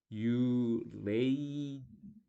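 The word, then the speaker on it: uranium: 그래서 우리나라 사람들은 당연히 한국말로 이걸 우라늄 이렇게 읽는데, 제가 미국 가봤더니 이게 우라늄 이러면 잘 못 따라듣더라고요. 그래서 원어민을 존중해야 되니까 그 나라 로마가 쓴 로마법 아닙니까? 그래서 들어봤더니 유레이니엄 뭐 이런 느낌으로 발음하더라고요. 유레이니엄.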